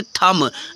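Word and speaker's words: thumb: थंब नहीं कि थंब कुछ बच्चे इसको बोलते हैं थंब बट ये रॉन्ग प्रोनंसिएशन उसका बोलेंगे थम बी साइलेंट होता है फ्रेंड्स अगर आज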